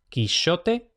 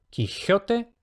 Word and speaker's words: Quixote: De izquierda a derecha tenemos quichote, quijote y quijote. Entonces vemos que efectivamente el de cecedilla es físicamente el estadio intermedio entre sh y g, por lo que es